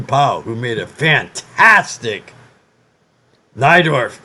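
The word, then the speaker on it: Najdorf: who made a fantastic thigh Dorf is n aj d ORF and it's because he's polish and in in Poland since my mother was polish otherwise pronounced like a tie and he moved to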